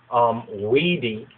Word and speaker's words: vidi: You write this VIDI, this is where you get video from, VIDI, or WIDI, really WIDI would actually be WIDI, long I or E sound, and then the VICI,